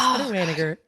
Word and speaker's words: Wanniger: My ex would always say, "Say it like you're mad." Wayer. Wigger. So, that's how that's how you say it. Get a little angry with it.